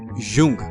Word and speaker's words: Jung: इमरान बोला, अच्छा याद कर लो, JUNG, यूंग। बहुत से जाहिल इसे जंग पढ़ते हैं और कुछ जुंग। जिन्हें काबिलियत का हैजा हो जाता है वो यूंग पढ़ने और लिखने लग जाते हैं।